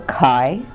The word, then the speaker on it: chi: And mole fraction is represented by the Greek letter chi, which is spelled C-H-I, and represented by kind of a squiggly looking X, kind of an uppercase squiggly looking X.